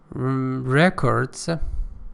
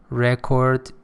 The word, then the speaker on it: record: restructuring is necessary see records remember as a noun it is record record British record American as